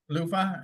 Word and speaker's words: Lufa: Yeah, kind of like a shower loofah. Yeah, Lufa.